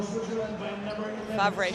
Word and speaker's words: Favre: Favre. She has a little bit more of a French uh I guess we could say Swiss uh accent.